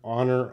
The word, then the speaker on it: honor: guys an agree good H is silent the H is silent so we don't want to say the age so knowing that Arash